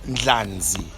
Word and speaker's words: Ndlanzi: out there, NDLANZI. Siyabonga. Thokoza. I love that you can pronounce my surname. People don't get it. It's got an N. Yes, so they missed the N.